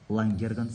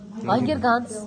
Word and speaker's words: Лангерганс: Сол кезде сендер бірінші очередь айырмашылығында лангерганс саралшықтарын сөйлейді. Ударение дұрыс қоймайсың сен де. Лангерганс. Лангерганс.